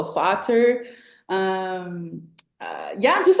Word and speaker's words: Vater: Because they're F's over there, they pronounce them as V's. So Vater.